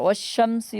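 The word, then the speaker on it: والشمس: এই হরফগুলোর শুরুতে যদি আলিফ লাম আছে তাহলে আলিফ লামের উচ্চারণ হবে না। যেমন ওয়াশ-শামসি ওয়া দুহাহা, এটা হচ্ছে হরফুল শামসি।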